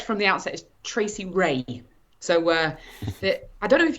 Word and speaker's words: Rea: well there we go so he pronounces it ria i pronounce it ray ray okay my apologies hopefully